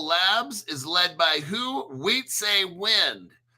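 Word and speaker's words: Wietse Wind: Wheat say wind. His name is spelled wie t. We say wind begin collaborating with other entities in the so this wind guy started flare.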